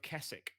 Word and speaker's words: Kessig: It's said with a G.